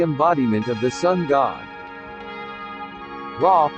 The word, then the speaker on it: Ra: Ra, pronounced Re, represents sunlight, warmth and growth.